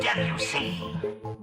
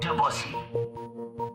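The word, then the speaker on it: Debussy: Claude Debuse. And yes, it's pronounced debuse. I was going to ask, not Dussy.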